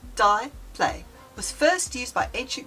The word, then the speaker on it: diple: The dplay, pronounced dplay, was first used by ancient Greek scribes as a marginal mark.